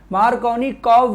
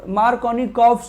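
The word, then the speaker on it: Markovnikov: लेकिन unsymmetrical substrate, ध्यान से सुनिएगा, for unsymmetrical substrate we need, for unsymmetrical substrate we need Mark rule, मार्कोनिकॉफ rule की requirement होती है।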